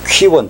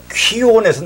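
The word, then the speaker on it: κύων: 퀴온 정확히 말하면 이 키읔 발음이 없어요. 그 헬라어나 라틴은 그 쌍기역입니다. 그러니까 퀴온이래요.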